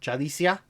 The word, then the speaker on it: Yalitza: I kept Yalitza Aparicio. Me too. Did I say it right? Sure. Yalitza Aparicio. I think Y's are J's. Jalicia. And I think J's are Y's.